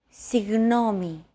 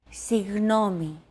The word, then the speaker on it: Συγγνώμη: to pronounce a G as if an H sound were to follow after it and hold that sound while you exhale. The after sound created by that H is what you're looking for.